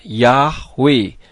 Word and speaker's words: Yahweh: ye ha W ha dibacanya yahwe huruf ha di bagian belakang tidak kedengaran pada saat dibaca dan perlu saudara ketahui